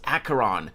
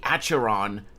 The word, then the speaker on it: Acheron: Star rail you pron you pronounce acaron you don't say acheron but you can't pronounce